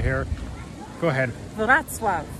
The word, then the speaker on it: Wrocław: But Julie will say it, but this is how it's spelled right here. Go ahead. Wrocław. Wrocław.